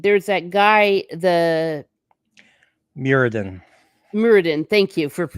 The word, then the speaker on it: Muradin: Muradin. Thank you for That's pronouncing it for me.